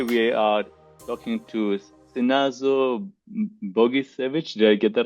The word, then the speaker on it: Bogicevic: Maybe I'll let I'll let you say that name as you normally pronounce it. So uh my name is Sazo Buggichevich.